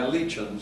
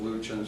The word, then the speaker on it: Luetchens: In Cass County, we go by Luetchens, so there might be some people who will miss this, or family who will say, "Oh, you pronounced our name wrong." But I moved to Lincoln, and we got started going with Luetchens for the kids in school and so forth.